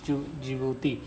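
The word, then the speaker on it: Djibouti: Somalia, Eritrea, Ethiopia और जिबूती। तो जिबूती जे से नहीं डी से शुरू होता है, डी यहाँ पर साइलेंट होता है।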